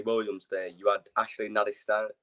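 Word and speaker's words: Nadesan: You had Ashley Nadistan. How do you say his name? Madison.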